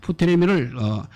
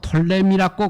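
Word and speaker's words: Ptolemy: 프토레미를 푸자를 빼뿌리고 묵음을 하고 톨레미라고 그렇게 발음하기도 합니다.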